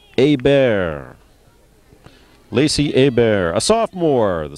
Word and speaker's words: Hebert: The French pronunciation looks like Herbert, but pronounced Hebert.